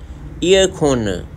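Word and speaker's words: 에어컨: में भी air conditioner को एयरकॉन कहते हैं, ईयरखोन, ईयरखोन, ईयरखोन। अब ईयरखोन डिशनर जो है ये साइलेंट कर देते हैं, ये लोग नहीं बोलते।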